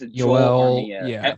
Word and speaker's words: Joel: yeah, because It's I've always Joel pronounced it Joel Yoel. Armia. Yeah, Everyone's saying it's Joel Joel Armia. Yoel. I'm like, that's not right.